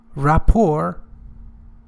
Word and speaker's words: rapport: and materials what is rapport pay attention the tense is not pronounced the last letter T is not pronounced oh don't say rapport okay rapport is a close not